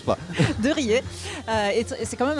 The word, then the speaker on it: Riez: lieu donc Saint-Hilière de Razè est très marqué par la par désolé, j'ai prononcé le Z. Je sais que ça se prononce pas. Non, ça se prononce pas. de RER euh et c'est quand